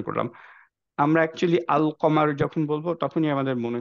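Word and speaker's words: القمر: start হচ্ছে এরকম আল দিয়ে সো লামটাকে ঠিকভাবে উচ্চারণ করলাম আমরা একচুয়ালি আল কমার যখন বলবো তখনই আমাদের মনে হয়ে যাবে আচ্ছা কমার ইজ দিস যে আলটা প্রপারলি উচ্চারণ হচ্ছে আকমার কিন্তু আমরা বলি না রাইট বলতে গেলেও কেমন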